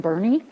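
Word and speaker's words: Boerne: Actually, I grew up in Bernie, and the second vowel is silent.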